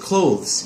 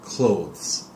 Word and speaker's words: clothes: South Beach okay and colds is just clothes you don't need the second s sound clothes Peggy when you're talking